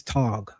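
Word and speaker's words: טאג: The Hebrew word for day is yom. The Yiddish word for day is tag.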